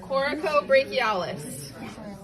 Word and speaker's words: coracobrachialis: Coracobrachialis. It is right next to the bone. I call it your cocoa muscle. It sounds like this.